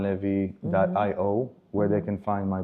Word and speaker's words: Levi: Uh, it's Levy. My name D O R O N L E Vi. Sometimes Lev is spelled with a Y.